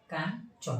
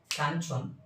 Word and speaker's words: কাঞ্চন: দেখো কাঞ্চন, এখানে কি ইয়র উচ্চারণ হচ্ছে না, ইয়র উচ্চারণটা কি কার মতো হচ্ছে? দন্তান্নর মতো হচ্ছে, অর্থাৎ কাঞ্চন। সেই জন্য বলা হয়েছে যে ইয় এর উচ্চারণ দন্তান্নের মতো হয়।